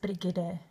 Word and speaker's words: Brigitte: My name is pronounced Brigitte. So just like Brigitte, Brigitte.